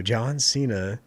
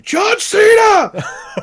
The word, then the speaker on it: Cena: John Cena, meme lord wrestler. What's that? You're saying it wrong. You gotta say John Cena.